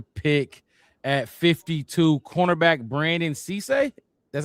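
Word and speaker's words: Cisse: At 52, cornerback Brandon Cece, that's how you say his name.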